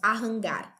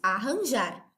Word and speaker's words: arranjar: Porque nós não falamos arrangar, nós dizemos arranjar.